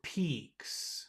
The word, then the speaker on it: peaks: the Peaks Peaks Peaks should try to move your tongue back a little bit we move your tongue up a little bit more Peaks Peaks that's good